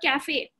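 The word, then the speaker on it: café: And cafe, coffee is called cafe in Spanish. Cafe, it's called cafe. Remember, A is the A sound.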